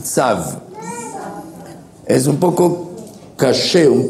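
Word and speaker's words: צו: Tzav, con V muda al final, tzav.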